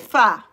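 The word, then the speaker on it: pho: And Saucy says, "Hey, Prima, faux soup is quite good. I do like fur." Not fo, it's fa. That's another thing that's pronounced. It's not fo, it's fa. But there's no a in it.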